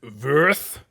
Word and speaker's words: Würth: Also in Tejas for the I'm going to go with the German pronunciation, Würth. Würth.